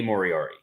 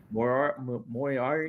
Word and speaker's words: Moriarty: Eventually, you're going to say his name right, and I'm excited about that. Moriarty. Lee Moriarty. Moriarty. Nope, you're adding extra letters. He's like the Sherlock Holmes villain, Moriarty.